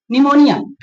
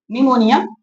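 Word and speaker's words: pneumonia: वैसे भी निमोनिया पी से स्टार्ट होता है। निमोनिया पी से स्टार्ट होता है लेकिन पी होता है साइलेंट होता है।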